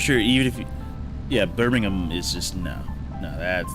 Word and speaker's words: Birmingham: Birmingham. I don't pronounce it like the UK people. What? How? Birmingham. Say Birmingham. I don't think they say the ham. I don't think they say ham.